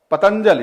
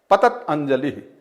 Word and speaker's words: पतंजलि: पतंजलि शब्द निष्पत्ति कहेंगे दीर्घ इकार का उच्चारण करेंगे पतंजलि पतंजलि पतंजलि दीर्घ उकार का दीर्घ का का उच्चारण करेंगे जबकि दीर्घ का वहां पर है नहीं पतंजलि है पत अंजलि यहां पर यह सकवा